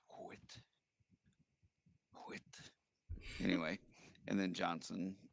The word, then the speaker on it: Johnson: quit anyway and then johnson j-o-h-n-s-o-n but so the h in johnson is silent or within or whistle